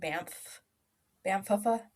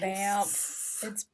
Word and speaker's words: Banff: Like So, when I was listening to one podcast and they said Bamfufa. And I was like, what? And they're like, Banff. It's Banff.